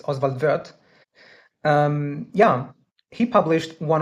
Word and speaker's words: Oswald Wirth: Uh I'm going to use the German pronunciation of his name because he was Swiss I believe. Um so I believe it's not Oswald birth as some people say it's Oswaldver.